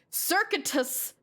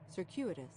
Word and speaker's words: circuitous: Cir circuit circuitus cir actually I don't even know how to pronounce this circuitus circ circ circuit circuitous ciruitous I was going ABOUT IT COMPLETELY THE WRONG HEY, CIRCUITOUS.